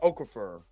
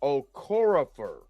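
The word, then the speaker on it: Okorafor: And this is by Nadi uh Okafer. No. Uh uh Okorapher. That's how you pronounce it.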